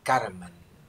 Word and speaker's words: karma: Karman. Ez a tudatlanság. Karman az eredeti szó. But because it's neuter in gender, you pronounce karma. You remove final end.